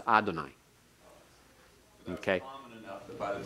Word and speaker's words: Adonai: be with it but you were to pronounce Adonai not Yahweh and so you weren't